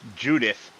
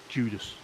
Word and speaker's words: Judith: It's Judith. I know, but my brain is going Judas. Don't ask me why. It's just saying Judas. Is there a place called Judith?